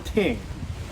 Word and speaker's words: Ting: It's called This Rum Ting because it has a Jamaican soda.